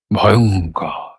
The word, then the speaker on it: ভয়ঙ্কর: গোটাগুো উচ্চারণটা কি দাঁড়ালো তিনটে সিলেবেল মাঝের সিলেবেলে বেশ কঠিন ঝোক একটা প্রবল ঝোক আর লিপং থেকে গড়িয়ে এবডোমেনে এসে এবডোমেনের স্বরটাকে সঙ্গে করে নিয়ে পরের সিলেবেলটায় যাচ্ছে। ভয়ঙ্কর ভয়ঙ্কর।